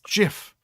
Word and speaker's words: GIF: like the gift thing no but it's Jiff and that's why they